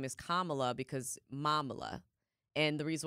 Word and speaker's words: Kamala: No, it's Kamala, like Mamala.